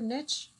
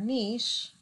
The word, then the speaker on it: niche: nature okay and yes you can say it either niche or niche a lot of people feel very strongly about one or the other but there's no one accepted pronunciation all right so the